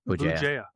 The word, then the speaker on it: Bugeja: BJA.